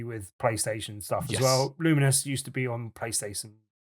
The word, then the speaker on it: Lumines: devs, it certainly pronounce Luminous, as in a bit like Luminos, as in luminosity kind of thing, but Luminous.